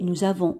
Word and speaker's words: nous avons: Et nous avons en français une règle qui dit que lorsque le S se trouve entre deux voyelles, on le prononce ZE.